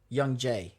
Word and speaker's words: YoungJae: So you would YoungJae. Uh-huh. Right. Remember, because it's 2 syllables in Korean.